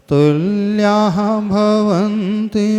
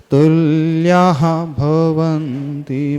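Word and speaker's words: तुल्याः: जो तृतीय चरण है तुल्या के बाद विसर्ग है तुल्या भवंती नहीं पढ़ना तुल्या विसर्ग का उच्चारण आना चाहिए तुल्या भवनती भवतो नते किमवा इस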